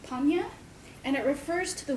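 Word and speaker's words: prajñā: Sanskrit in origin, it's actually pronounced panya, and it refers to the wisdom that is necessary for one to attain enlightenment.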